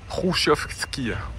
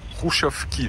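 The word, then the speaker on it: Khrushchyovka: C'est exactement comme en Estonie et en Russie, on retrouve des immeubles de style Rushovski. Rouchovski, ça se prononce comme ça, qui ont été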